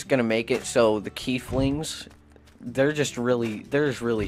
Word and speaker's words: Keflings: Keplinger I'm very far it's world of key flings that's how it's that's how you say it that's how it's pronounced I'm gonna kill you